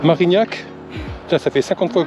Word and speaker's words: Marignac: C'est pas Marcignac, je dis, c'est Marignac. Marignac.